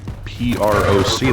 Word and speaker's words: proc: What's wrong with calling it proc? P-R-O-C, that's how you pronounce that, proc. soul lost. You wouldn't call it a percolator, it's a proculator.